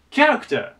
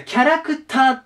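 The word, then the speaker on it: character: ないのがこれアクセントなんですこの単語でどこにあるかって言うと最初ですキに行きますキャラクターていう発音になるあとアクセントになるだキャラクターって言方をするので日本語だとそうするとこっちにね後ろにアクセントがついてるイメージ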